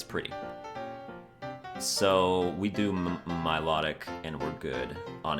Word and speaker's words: Milotic: way as well is Milotic don't you mean Milotic no I said Milotic cuz I like that better I think that's how it should be pronounced Milotic what is my low